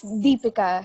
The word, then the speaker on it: Deepika: I've been worried that, is it Deepika? It's Deepika. Stress on the first syllable.